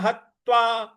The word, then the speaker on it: हत्वा: रहे हैं गुरु न हत्वा गुरु न ग पर छोटा ऊ की मात्रा र पर बड़ा ऊ की मात्रा न हत्वा जो ह के बाद जो त है इस पर हमको आघात देना है तो गुरु न हत्वा